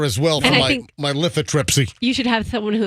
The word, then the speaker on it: lithotripsy: right hand hey let me make sure I'm pronouncing the damn procedure right lithotripsy yeah lithotripsy l-i-t-h-o-t-r-i-p-s-y so uh apparently it's like